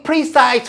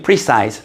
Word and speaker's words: precise: 그런 힘들 뭐 중력이라든지 이런 것들이 have very precise forms and values. Precis 발음 조심 precise 아주 정확한 형태와 아주 정확한 값들을 가지고 있습니다.